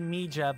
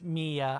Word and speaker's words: Mija: Might be Mija, but I'm pretty sure it's Mia. I think that J is silent.